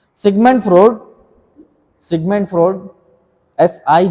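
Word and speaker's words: Freud: segment फ्रॉड segment फ्रॉड एस आई जी एम यू एन डी एफ आर ई ए यू डी ऐसे ही French German ऐसे ही नाम फ्रॉड फ्रूट नहीं फ्रॉड एफ आर ई यू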